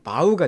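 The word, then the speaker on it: bow: 지난주에 설명했습니다 절하다 뜻이죠 이게 활과 화살 할 때 활 일 때는 발음이 보우가 됩니다 하다는 바우가 되죠 여기서는 하다니까 바우가 돼요 바우다 업드려 전하는 겁니다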